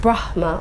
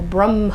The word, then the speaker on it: Brahma: there's no mistake that the only word in Sanskrit that you have a choice of how to pronounce is the word Brahma that can either be pronounced Brahma or Brahma ha you would have heard both of those pronunciations I mean and again there's this which way and in the in the Sanskrit grammar book it gives you the option it says you are allowed to pronounce this word in this two different ways if anyone doesn't know